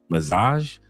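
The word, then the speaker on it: Mazaaj: And I forget how to pronounce the the name. It is a Mazaj, which is m a z a a j.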